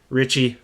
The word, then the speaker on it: Ricci: I was saying Tabitha Ricci. Wow. Yeah, sorry for that. That's a terrible mistake. Her name is Tabitha Ricci. Richie, okay?